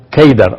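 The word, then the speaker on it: Qedar: En árabe la palabra Cedar se pronuncia Keidar o se escribe Keidar.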